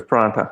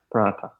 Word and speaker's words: paratha: Paratha, yeah. So it's not a th, it's a ta, right? It is a light paratha.